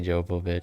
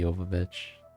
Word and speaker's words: Jovovich: it is I think people think people say Jehovah but it's technically Jovovich anyways I was thinking of